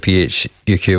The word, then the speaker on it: PHUQ: right but Jinger himself pronounces it phuq which I think is